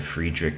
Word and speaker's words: Friedrich: I say Friedrich and I know that's not the correct German pronunciation, but you know, it's better than fried rich. No disrespect to the people who say fried rich, but like like Friedrich is wrong, but fried rich is